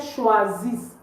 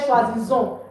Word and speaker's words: choisissent: So please, it's not il, elle choisissons. I know you're tempted to say il, elle choisissons or il, elle choisissent. In French verbs, we don't pronounce the E-N-T at the end of it.